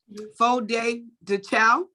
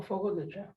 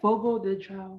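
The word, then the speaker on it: Fogo de Chão: How do you pronounce it? FOD de Chow? The which one? Oh, Fogo de Chao. Oh, yeah. How do you say it? Wait, how is it? Fogo de Chao.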